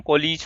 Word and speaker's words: COALESCE: कोलीज function होता है तो इसकी स्पेलिंग होती है COALESCE। ठीक, कोलीज फंक्शन।